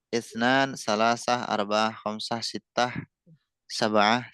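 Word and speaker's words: ثلاثة: Oke, salasah. Lamnya ditekan itu. Salasah.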